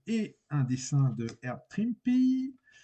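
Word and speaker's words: Trimpe: un dessin de herb trimpy il paraît qu'on dit trimpy donc moi je dis trimpy air TRM airb TRM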